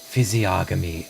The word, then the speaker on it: physiognomy: Physiognomy. That's the one. You pronounced it correctly.